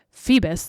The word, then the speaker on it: Phoebus: In 1925, the manufacturers formed what's called the Phoebus, I think that's how you would pronounce it, Phoebus, like Phoebe, but Phoebus but with cartel.